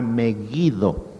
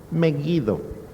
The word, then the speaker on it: Meguido: que se refiere a meguido o megido mejido la pronunciación correcta es la g fuerte meguido meguido es un valle